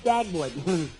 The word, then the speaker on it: Dagwood: Look, my name is not Deadwood, it's Dagwood.